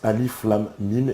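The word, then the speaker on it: alif lām mīm: de la sourate 2 on prononce alif lâm mîm et non à m oui oui bien sûr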